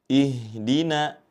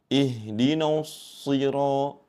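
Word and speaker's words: اهدنا: Pada huruf nun yang berharakat fathah tetap dibaca tipis. Ihdina. Jangan sampai terbawa ke huruf shad yang memang dibaca tebal ya. Sehingga membacanya seperti ini. Ihdinusiro.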